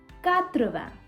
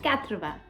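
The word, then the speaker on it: quatre-vingts: is 80 80 is not swasanthman no it is katravan yes counting from 1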